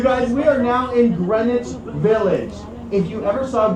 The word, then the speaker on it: Greenwich: it is spelled just like Green Witch Village. But because this is New York and we like to make everything just a little bit harder, we called it Greenwich.